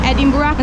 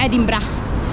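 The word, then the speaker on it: Edinburgh: edimburgo che abbiamo scoperto che non si dice è rimboccata si dice ed ibra vabbè comunque ci dovremmo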